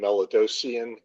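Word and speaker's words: Melidosian: Could you please state your name and spell it for the stenographer? Last name Melodosian.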